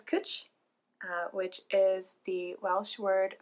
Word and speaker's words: Cwtch: But W actually acts as a vowel in Welsh. So this is Cwtch, rhymes with butch, and that's your Welsh lesson for the day.